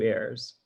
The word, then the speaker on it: heirs: Any person gendered masculine grammatically through this passage who is 20 years of age and has not produced 2 heirs, or hairs. Heirs with a silent H, right?